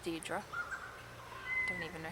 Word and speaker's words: Deirdre: Apparently that's pronounced Deirdre.